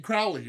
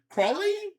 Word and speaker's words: Crowley: You pronounced Crowley's name right. You mean Crowley, right? Uh-huh. You mean Crowley? I mean Crawley? Crawley. Yeah. Aleister Crowley.